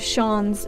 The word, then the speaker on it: Shans: The pronunciation of Shans is the same as chance, like chance, but with an SH at the start.